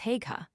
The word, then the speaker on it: Haigha: His name is Hega. He pronounced it so as to rhyme with mayor.